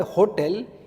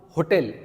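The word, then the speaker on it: hôtel: Because here the word hotel is a masculine noun plus it is starting with h silent because here h we don't pronounce in French we don't pronounce hotel we pronounce hotel okay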